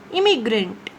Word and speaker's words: immigrant: This one is immigrant. I-M. Im.